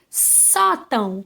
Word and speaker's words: sótão: Sótão. Qual é a penúltima sílaba aí? O só. E qual vai ser o acento? Agudo, né? Por quê? Porque é um som aberto.